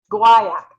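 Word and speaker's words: Guaiac: we are going to start off with guayak no gooey I practice and practices last night and I listened to three different I Googled how to say it um guayak that's what it is um I listened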